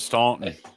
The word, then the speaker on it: Staunton: Staunton, Virginia, and the people that live there pronounce it Staunton.